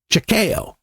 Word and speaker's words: Chequeo: But he was part of the Westerns clique, and he had a nickname of Chakeo, and that's spelled Chequeo.